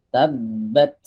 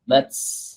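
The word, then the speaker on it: تَبَّتْ: Nah, awas, hams di huruf ta. Cara membacanya jangan sampai muncul sin. Tabbat. Nah, ini sin nih. Tabbat. Bat. Langsung lepas. Bat. Bukan bats.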